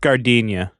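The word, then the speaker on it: giardiniera: thing that's what I was thinking of it's pronounced gardenia oh is it yeah yeah we've probably extended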